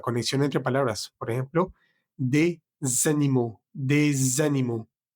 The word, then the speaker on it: des animaux: Por ejemplo, des animaux, des animaux. Esa S de D se pronuncia para unirse con ánimo, des animaux.